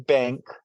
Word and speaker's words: BVNK: It's called Breaking Bank, and it's breaking is spelled regular, but bank is spelled BVNK, and it's on Okay.